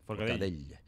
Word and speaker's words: Forcadell: Y eso se une a lo que acabamos de ver y de contemplar con Carmen Forcadell. Espero haberlo pronunciado bien. Sí, bastante bien. Forcadell.